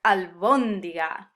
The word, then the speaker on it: albóndiga: Albóndiga. Yeah, means meatball. And this is another sound the Spanish language gravitates to, these words that have the emphasis on the third to last syllable, like albóndiga or lámpara